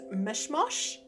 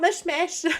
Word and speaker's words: Mishmosh: I am doing an island called Mishmosh, not Mishmash.